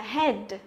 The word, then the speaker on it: head: Thì cái từ này, cái đầu của chúng ta đọc là gì? Là head, đúng không? Head. Nhưng mà cô thật sự là cô nghe thấy rất nhiều bạn đọc cái từ này là hit luôn.